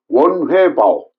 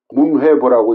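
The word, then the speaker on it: 文匯報: 문장을 상하이의 지방 신문인 원회바오 문회보라고 읽죠 우리는 그 원회바오에 개제를 입니다.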